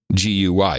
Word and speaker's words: Guy: title of Sir Guy, which is pronounced as in the Indian clarified butter French Guy, G-U-Y, Sir Guy, but it'll be G-E-E.